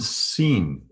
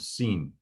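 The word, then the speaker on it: שׂ: If the dot is over the left of the three prongs of the fork, then it's pronounced as an S sound, sin.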